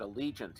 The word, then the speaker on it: Allegiant: have you got them there grantler we we pronounce it Allegiant here have you gone then Ruby where at